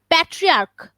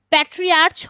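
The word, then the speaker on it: patriarch: তারপরে প্যাট্রিয়ার্ক, প্যাট্রিয়ার্চ হয় না, প্যাট্রিয়ার্ক হয়, ঠিক আছে?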